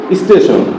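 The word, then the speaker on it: station: আমরা কয়েকটা শব্দ লিখি দেখ যদি আমরা লিখি স্টেশন এসটি এটি আই ও কি হয় স্টেশন স্টেশন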